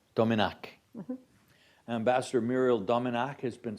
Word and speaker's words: Domenach: uh Ambassador Muriel domak has been am I pronouncing that correctly that's correct Domin Domin Ambassador Muriel dominc has been serving as permanent